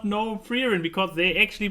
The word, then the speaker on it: Frieren: Oh, I'm pronouncing it correct because she is named after the German word for being called.